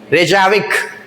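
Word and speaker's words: Reykjavík: ये पढ़ के बताओ रेजाविक यहां साइलेंट है आपका के साइलेंट है रेजाविक देजाऊ रेजाऊ रेजाविक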